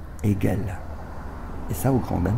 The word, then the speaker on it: Hegel: Dans cette rue Hegel, que tout le quartier prononçait rue Hegel, il m'a fallu attendre la première au lycée Saint-Paul pour apprendre à prononcer Hegel.